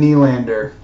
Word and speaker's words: Nylander: I've literally never heard it pronounced any way other than Nylander, because his dad, Michael Nylander, played in the league for like 20 years, so it was easy to transfer.